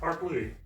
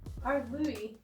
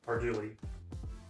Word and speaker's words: Ardlui: It's just Ardlui. Ardlooey. Yeah. Ardlooey. It's literally as you would say it. Ard As you see it. Ardlooey. Ardlui. What did I say the first time? Arduli.